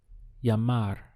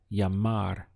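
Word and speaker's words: llamar: call in Spanish is yamar this Double L always gets pronounced as a y in Spanish so you can imagine whenever you see this that it's like this with a Y yamar that's the sound Y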